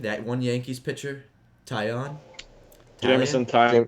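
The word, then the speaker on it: Taillon: That one Yankees pitcher, Tyon? Jameson Tyon? Tyon.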